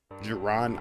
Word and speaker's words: Jaron: Geron is how you say my name.